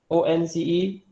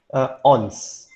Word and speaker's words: once: I would also just like to remind everyone about the proper pronunciation of this word. ONCE. Once. Once, yeah? Betul lah. Once, yes. Because I hear a lot of students Okay. pronounce it Yeah. wrongly. How? Ons.